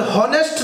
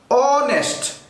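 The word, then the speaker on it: honest: যদি উচ্চারণ করতে আপনার প্রথমে হ না থাকে তাহলে হনেস্ট না অনেস্ট, তাহলে অ মানে কি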